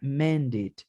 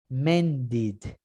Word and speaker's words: mended: Y la regla dice, solo los que terminen en T o en D, yo puedo pronunciar la ed. ¿Y cómo se pronuncia la ed? Como id, visited, mended.